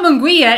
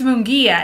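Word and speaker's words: Munguía: his name yeah well i always want to say munguia but it's not mongolia it's munguia and yeah jaime uh defeated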